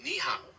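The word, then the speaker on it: 你好: In Mandarin, you say ni hao. The ni sounds similar to the English word knee, and hao is like how with a rising and falling tone.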